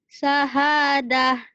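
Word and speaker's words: شهادة: Syahadah. Syahadah. Gitu ya. Ini tak marbutoh. Jika dihentikan jadi ha. Syahadah.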